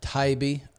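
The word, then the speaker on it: Taibbi: which is by Matt taibe is that how you say it tybe t I think it's Tai yeah yeah I always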